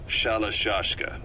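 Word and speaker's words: Shalashaska: somewhere along the line, Shashka got stuck on the end of Sharashka. The guerrillas were using the name amongst themselves, and by the time I got to hearing about it, pronunciation had wound up as Shalashashka. So, half gulag, half hero sword.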